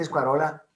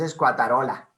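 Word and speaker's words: squatarola: Pluvialis separando V de A, y te comiste la ta, dijiste escuarola y es escuatarola.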